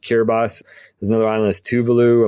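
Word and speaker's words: Kiribati: It's Kerati. If you look at it looks like but it's pronounced Kerbas.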